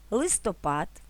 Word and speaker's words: листопад: фартух чорнослив граблі чорнозим наголос на третій склад ставимо у слова листопад кропива запитання сторінки каталог